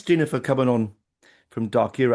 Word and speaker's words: Darkyra: Oh thanks Gina for coming on from darker. Am I say am I pronouncing it right? Darker is am I pronouncing it correctly? Perfect.